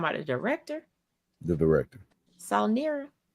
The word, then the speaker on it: Saulnier: Saulnier. Jeremy Saulnier. I guess that's how you say his name. I ain't trying to mess up. Oh wait, it's Sonnet. See? It must be French.